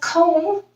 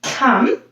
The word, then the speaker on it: come: here's a couple more we don't read it as cone we made it as come we don't read it